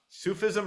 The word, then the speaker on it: Sufism: Sufism or suffism? Oh, Sufism. Yes. Sufism. Okay.